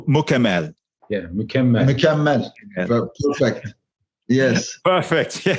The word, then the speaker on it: Mükemmel: Yeah, Mükemmel.